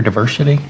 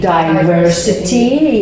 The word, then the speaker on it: diversity: we always looking for diversity aren't we always looking for he says diversity I usually say diversity yes I think diversity is more like British pronunciation and diversi American pronunciation like a group of